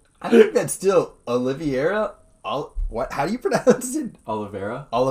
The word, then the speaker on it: Oliveira: Kevin Lee versus Charles Oliveira. Oliveira. Horribly mispronounced that one.